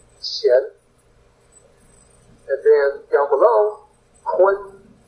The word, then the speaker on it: qian: So, remember, pinyin is a little bit funky, so qian is actually chian. You would pronounce it as if it was spelled chian, qian.